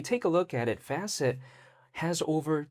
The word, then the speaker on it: Facet: So, it's spelled asset but then with an F in the beginning, so Facet.